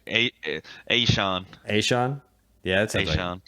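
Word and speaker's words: Achane: say his last name hey Sean hey Sean yeah Devon is Sean it kind of sounds like it Rhymes uh and then right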